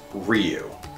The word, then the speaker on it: Ryu: they're in there and it's pronounced Ryu are you kidding me we've been singing for years and you still can't say it's like saying manga as manga wrong